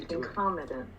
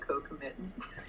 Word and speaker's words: concomitant: Concomitant. Concomitant. Wow. How are you I supposed to think pronounce I have it? completely ignored the fact that there is an N there, and I've always said co-committant.